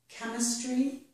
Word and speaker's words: chemistry: At the beginning of some words, CH does sound like k. Here are two examples. The word chemistry and the word character both make the sound k with CH.